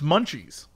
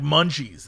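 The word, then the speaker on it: Muncheese: that like cheese yeah except it's munchies but it's spelled m-u-n cheese but it's like munchies though it's clever it's clever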